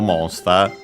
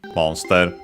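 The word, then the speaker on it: モンスター: Poketo monster pocket monsters Pokemon shock tender. Uh, by the way, monster accented on the first syllable as expected.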